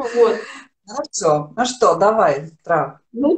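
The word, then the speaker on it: huevo: еще первая буква H у них не читается. Когда я стала говорить, что я знаю, что Да. такое хуэва, это яйцо, мне сказали, что вот это хэ, не Да, хуэва, там надо быть осторожным.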